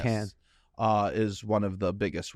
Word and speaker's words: Cannes: We don't pronounce the S. Cannes.